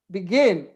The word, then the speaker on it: begin: The stress is the second syllable. Right? Begin.